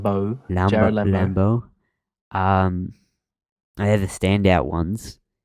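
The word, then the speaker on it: Lambeau: That's how you pronounce his last name. Jared Lambo.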